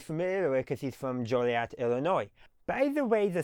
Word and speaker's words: Joliet: Now, you may ask why is it pronounced Joliet rather than Jolliat? You see the beginning part Jolly and then you see an E T. So, Jolliat makes sense. No, it doesn't.